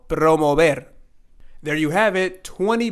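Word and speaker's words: promover: letters are this word so we're going to have a little r rolling sound here so it's going to be Pro and it's not going to be Pro not pro mobile but it's going to be promo promo and then like here again we have the V or the bass sound so it's going to be promo bed and not there so promo ver there you have it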